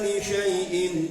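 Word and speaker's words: لشيء: Jadi jangan bacanya jangan li sya'in tapi li syai.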